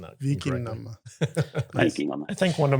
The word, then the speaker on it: Vikingane: is Viking is Viking, and then Anna is sort of the plural form when it comes to New Vikingane. Norwegian or Old Wow.